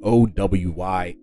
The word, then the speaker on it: Owyhee: There are certain places in the Pacific Northwest that have, there's a Owyhee County, and then there's the Owyhee Mountains that are also in Idaho. And once again, this is pronounced Owyhee, which is their stylized spelling of the word